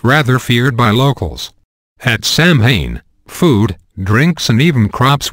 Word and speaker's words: Samhain: The day was intended to honor the dead by Celtic pagans, in a feast called Samhain, pronounced Samhain, which means summer's end.